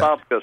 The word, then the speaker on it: Apopka: Apopka, sir.